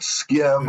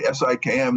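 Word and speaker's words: SIKM: kind of funny because people will misread it and call it skim or they'll pronounce it sium or if I say it quickly when I say si ikm they won't necessarily hear what I'm saying in any case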